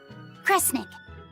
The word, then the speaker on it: Kresnik: The other word attached to it is pronounced kre. Which of those first two readings feels right to you? Sound it out. Kre, Snira, Kre, Snick. Kresnik.